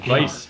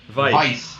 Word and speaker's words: Weiss: Weiss. The W is pronounced as a V. Weiss.